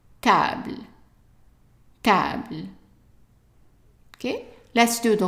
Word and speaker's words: table: And in English is table, but not in French because the A is pronounced as an A sound. So instead of T, it's ta. Table.